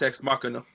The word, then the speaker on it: Ex Machina: Is that how you pronounce it? Yes. Yeah, it's Ex Machina.